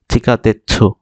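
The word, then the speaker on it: 地下鉄: এরপরে ওয়ার্ডটা আছে চিকা তেচ্ছু, দেখেন এই ছুটা বড় তাই এটা পূর্ণ উচ্চারণ হবে চিকা তেচ্ছু, চিকা তেচ্ছু, চিকা মানে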